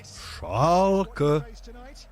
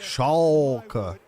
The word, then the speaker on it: Schalke: You gotta say it like this. Schalke. Yeah, and the L, you have to like put your tongue a little bit to the back. Schalke.